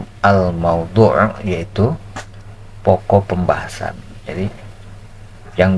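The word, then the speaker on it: الموضوع: video yang keduanya itu almaudu mauduu ya bacanya almaudu yaitu pokok pembahasan jadi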